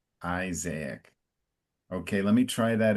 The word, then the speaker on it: Isaac: So it's Isaac in English. So it's an open I and an emphasis on the first I. Isaac.